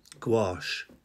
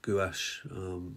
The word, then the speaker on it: gouache: painting and that's worked i pronounce it gouache because that's how i hear most people pronounce it uh but we also there's also a pronunciation gouache so we're all talking about